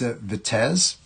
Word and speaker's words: Vitesse: It's pronounced Vitesse, and so it's a quartz chronograph bracelet timepiece.